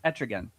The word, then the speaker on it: Etrigan: Like, is it pronounced Etrigan or Etrig? No, Trigon is No, I'm not Trigon. No, I know it's not Trigon. Is it Etrigan? Etrigan the demon. Etrigan. That's how you say it.